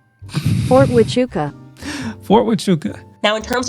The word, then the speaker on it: Fort Huachuca: But last time she was talking about this Fort Huachuca situation.